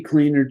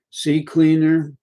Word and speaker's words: CCleaner: reg clean though actually ccleaner today is even better c cleaner download it it's a little small program is called ccleaner just the way it's spelled c cleaner two c's and on the left